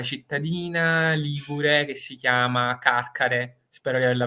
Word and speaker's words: Carcare: Ligure che si chiama Carcare spero di averla pronunciata bene peré Qualche volta i Genovesi mi hanno sgridato sulla pronuncia Dovrebbe però dovrebbe essere caccare E quindi lui capisce